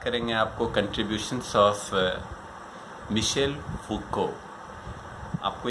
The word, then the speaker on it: Foucault: फूको FOUCOULT, बट लेकिन उसको French में फूको बोलते हैं, तो हम वैसे ही प्रोनाउंस करेंगे जैसे उनका नाम है, वैसे ही उच्चारण करेंगे, फूको।